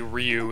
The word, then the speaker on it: Ryu: The only thing I know is correct is that you say Ryu instead of Ru or other shit.